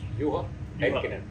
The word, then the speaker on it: Juha Heikkinen: So joining us is Juha Heikkinen, that's how I pronounce it? Juha Heikkinen.